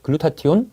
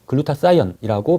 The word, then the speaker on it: 글루타치온: 꼭 필요한 성분이 바로 글루타치온 있니다네 글루타치온은 글루타티온 또는 글루타 사이언이라고 발음하기도 합니다 글루타치온이 중요한 항산화 물질이라고